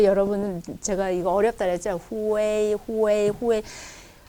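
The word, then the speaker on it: 会: 후웨이. 회의는 아니에요. 근데 얼핏 들으면 회의처럼도 들리는데 후웨이. 그러니까 어떤 사람은 또 후이 이렇게도 하죠. 후이 이렇게도 하는데 후웨이. 그러니까 회의는 아니에요. 후이도 아니에요. 후웨이를 빨리 하셔야 돼요.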